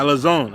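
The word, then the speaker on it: ἀλαζών: It says, let me get this how you say that. Alazone. Alazone? Something like that. Yeah, Alazone.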